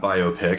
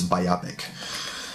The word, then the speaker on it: biopic: have like a biopic, not biopic, for all of you who are out there pronouncing it correctly. You don't say biology, you say biology, so it's biopic.